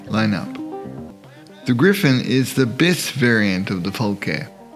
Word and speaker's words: bis: The Griffon is the bis variant of the FALKE. Bis, like biscuit, one syllable.